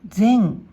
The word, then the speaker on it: 前: はい、これは音読みで前、前、訓読みで前、前と読みます。